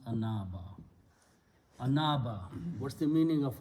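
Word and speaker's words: أناب: Okay, sound is af'ala, so this ya is pronounced as alif, it becomes anaba.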